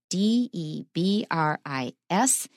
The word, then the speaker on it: debris: the word debris it's de BR I s it is from French and that's why in American English it's stressed on the second syllable we don't say debris